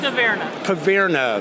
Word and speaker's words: Caverna: Caverna, is that the pronunciation of Caverna?